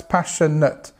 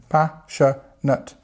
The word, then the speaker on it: passionate: So it starts with the stress passionut and you see you see this comes up again pasha nut.